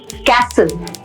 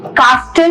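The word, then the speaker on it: castle: First word है कैसल। हम लोग कैसल बोलेंगे। सी ए एस टी एल ई कैसल। कास्टल नहीं बोलेंगे उसको। That is incorrect.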